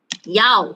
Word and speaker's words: 要: 要 tone number 4, meaning means.